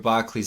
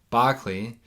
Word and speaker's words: Berkeley: Because for Berkeley, I always keep pronouncing it wrong because of the American mispronunciation. Berkeley, the existence of matter itself is absurd for him.